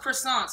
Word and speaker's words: croissant: Somebody loves croissants. Thank you, Shorty Matt. Croissants are fire. You about to cosplay this pumpkin? I never said phonetically. It's because it's French. So it says it's a croissant.